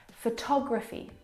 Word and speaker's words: photography: different and that's because the second syllable is the stressed syllable in this word photography all talk photography compare